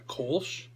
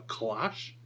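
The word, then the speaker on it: Kölsch: dark Milds Irish out a kch or as I pronounced it like four years ago in one of my videos a clash um American loggers you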